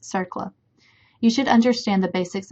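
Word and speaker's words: CERCLA: Compensation and Liability Act abbreviated CERLA, and pronounced CERLA.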